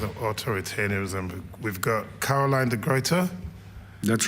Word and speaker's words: de Gruyter: We've got Caroline de Gruyter. That's right. Caroline, please, would you join us? And Matej, back here again. Wherever this. No. Wherever you. Okay. There we go. Some water. So Caroline de Gruyter, do I say it correctly?